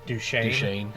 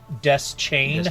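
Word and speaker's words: Deschain: really bothered me is the other narrator always uh pronounces Roland's last name as duchan and Stephen King pronounce it as it pronounces it as death chain death chain and I was like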